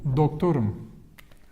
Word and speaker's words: doktorum: So when it's I am, a syllable before we stress. Like here, the stress is here. Like ben doktorum, doktorum, doktorum. Like doctor, like you go up here. Ben doktorum. And you go down here.